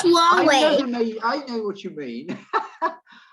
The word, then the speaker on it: Huawei: Ah, well, I pronounce it Hawaii, but I may be wrong. Hawaii? Huawei. Yeah, It's Huawei.